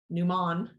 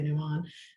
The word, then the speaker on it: pneumon: so pullman and pneumonia are neumann there you go i should say neumon both of these mean